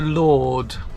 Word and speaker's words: Lourdes: We're going to Lourdes, as the French pronounce it, but that's where we're heading.